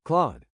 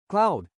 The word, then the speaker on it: Claude: Claude's a bit tricky because it's spelled Claud. So people tend to pronounce it cloud, but it's actually Claude.